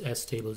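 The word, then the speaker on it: STable: And this is how you say super tables. It's S tables essentially.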